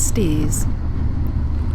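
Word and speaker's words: Staithes: foreign States although I believe the locals May traditionally pronounce its steers States has numerous narrow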